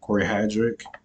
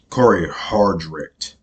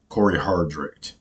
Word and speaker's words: Cory Hardrick: Corey Corey hard hard is that his name Cory hadrick hadrick I can't can never pronounce this dude's name man um let look up divorcing the black so I can get it I'm sorry y'all Corey Hardrick Cory Hardrick okay and I forgot making good